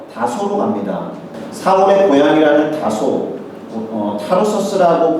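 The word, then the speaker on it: Tarsus: 사울이라는 사람은 찾으러 다소로 갑니다 사울의 고향이라는 다소 타로서스라고 발음이 되는데요 오늘날 터키의 메르심이라는 도시가 있습니다 메르싱 부분에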